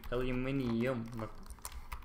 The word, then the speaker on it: aluminium: What aluminium?